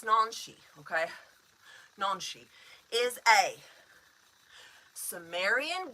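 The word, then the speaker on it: Nanshe: So, nonshi. N. Nonshi. Looks like Nancy, like Nancy, you know, but it's Nonshi.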